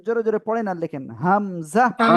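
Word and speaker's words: همزة: কিন্তু হামজা হামজা এই অক্ষরে এক আলিফও টান হবে না। কোন টান হবে না। সবাই একসাথে জোরে জোরে পড়েন আর লেখেন হামজা ওকে।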